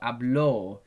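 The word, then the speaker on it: habló: If you put the accent on the O, hablo, this now means the past tense.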